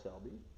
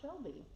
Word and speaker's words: Selby: I'm here with Olympia Mayor Cheryl Selby. Cheryl, You said it right. I said Kara Shelby.